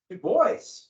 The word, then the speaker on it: Du Bois: Du Bois, using the English pronunciation, the way Americans pronounce his name. Du Bois, he's a liberal.